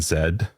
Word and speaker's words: Z: them into Maps um hitting Zed which is the correct way to say z uh hitting Zed